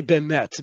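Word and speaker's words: באמת: If you need to say bemet, meaning really, truly, keep it short. Bemet. Okay. Oftentimes people will stretch it out too much.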